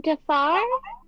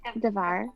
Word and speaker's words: Davar: From Dafar? Is that how you say it? Davar.